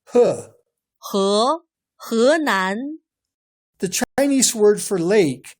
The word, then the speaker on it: 河南: 河南、湖南、 Notice that he is not pronounced as he. This Chinese word for river sounds more like he. 河南、 The Chinese word for lake sounds like hu.